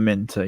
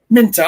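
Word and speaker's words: Minteh: The number 17, could you pronounce his name? Is it Minter? Yankuba Minter, yeah. Minter. Oh, look, I did it right.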